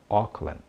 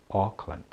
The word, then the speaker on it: Auckland: Toda vez que você vir, considerando, é claro, algumas exceções, a grafia AU, ela terá o som de O, sendo esse O aberto.